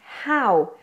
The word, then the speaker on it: how: how are you et c'est vraiment un son H qui est fort et un and we